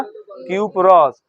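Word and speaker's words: cuprous: उच्चारण आएगा तो हम क्या करेंगे क्यूप्रस का उच्चारण होगा क्यूप्रस, और जब ज्यादा संयोजकता है तो क्यूप्रिक।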